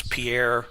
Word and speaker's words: Pierre: How would you pronounce Pierre, South Dakota? Not Pierre. Right. I'm getting a nod of no from Jim up there in the screen. You wanna I think it's pier.